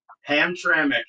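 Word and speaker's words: Hamtramck: it's Amir gal and he's the mayor of ham traic Michigan and yeah there ham trami and you're right and actually they're one of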